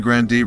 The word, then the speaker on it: Grande: Ariana Grande revealed that her grandfather called their family's last name Grande in an interview with Apple Music in 2018, because it sounded more enjoyable.